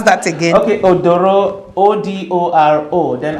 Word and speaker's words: Odoro: Please, can you pronounce that again? Okay, Odoro, O-D-O-R-O, then Atasung, A-T-A-S-U-N-G.